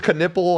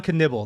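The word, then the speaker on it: Knueppel: pretty sure it's K I thought it was canle I don't even know oh K canibble that's what it is s it's very confusing the P's are pronounces he actually won me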